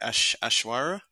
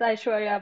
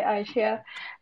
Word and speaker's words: Aishwarya: I pronounce this right, Ashwara. Do you have a question or a comment you want to add? Or hey. Hi. Yeah, it's Aishwarya, but it's fine if you say Aishia.